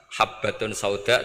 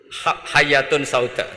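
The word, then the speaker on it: حبة سوداء: Jadi gurunya baca habbatun sauda dawaun min kulli da. Jadi dia kitabnya kelebihan apa? Titik. Jadi kelebihan titik dia bacanya itu hayatun sauda dawaun min kulli da.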